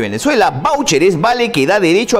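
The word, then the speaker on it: váucher: significado ahora de voucher esta palabra es inglesa se escribe en teoría voucher pero esta calle está ni castellanizada perdón como voucher con tilde en la a vv a voucher en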